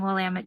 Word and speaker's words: Willamette: Willamette? Yeah, Willamette? They help people by saying Willamette, damn it.